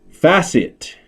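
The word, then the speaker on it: FASIT: also known as specialty centers and fashion malls facet and it's spelled f-a-s-i-t c financial asset securitization Investment Trust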